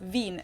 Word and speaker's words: Wien: from the Austrian city of Vienna which is Veen in German that's right it's kind of an old-fashioned German word that we pronounce vandalus and it's literally the desire to